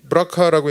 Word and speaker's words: BRCA: 안젤리나 졸리가 이 BRCA 브라카라고 읽는데 브라카 유전자 이거 뭔 줄 아세요? 별거 아닙니다. 브라카가 그 브레스트 캔서의 약자예요. 예? BR 브레스트 CA 캔서. 왜냐하면 제가 옛날에 이걸 찾아봤는데